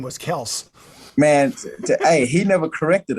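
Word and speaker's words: Kelce: I'm like man like we really been saying his name wrong like for the past six years because I've been in the league six years and I've been calling him Kelsey you know for the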